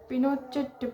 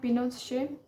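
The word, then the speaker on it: Pinochet: General Augusto पिनोचेट pronounce पिनोचे। तो यहाँ पे जनरल अगस्तो के बारे में कहता है, जिनको जनरल अगस्तो पिनोचेट जिनको प्रोनाउंस होता है पिनोशे, हु वाज an army general.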